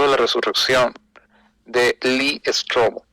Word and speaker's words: Strobel: Lee Strobel, se llama Lee, el nombre, y Strobel se escribe Stropel.